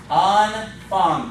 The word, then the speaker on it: Anfang: Anfang. Both of those A's are long.